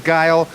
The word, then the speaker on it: Geil: stage now we have guile he's scary i love his zap she actually said it right thank you jenny they used exactly my first initial is t my last name is guile i am t guile